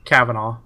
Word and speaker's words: Kavanaugh: Trump nominated judge Brett how's that last name pronounced Tom Cavanaugh Cavanaugh saying that freaking Washington Times needs an